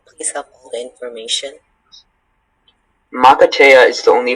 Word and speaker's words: makatea: Makatea is the only pronunciation.